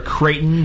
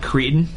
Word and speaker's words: Kraton: is it Craton okay the center for kraton not Katon Katon I would have